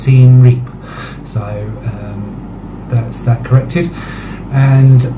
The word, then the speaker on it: Siem Reap: Cambodia, I was referring to the city as Siem Reap, which I wrongly believed is how you were supposed to pronounce it. It's actually pronounced Siem Reap, so that's that corrected.